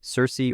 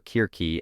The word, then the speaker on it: Circe: One of the best-known witches from mythology, Circe or Kirke as the ancient Greeks probably pronounced it, is the daughter of the sun god Helios and an Oceanid Perse.